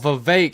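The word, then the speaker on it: Vivek: show you oh yeah his name rhymes with cake you know where I'm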